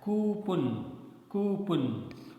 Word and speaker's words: coupon: Next one is COUPON. Generally, we speak it as coupon, but the correct pronunciation is coupon, right?